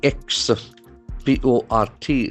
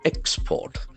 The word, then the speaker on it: export: sound Sugar Sugar e ex p o r t since it's a noun the acction must be in the first syllable export export sugar export here is a verb that accs to second syllable export export Center lifts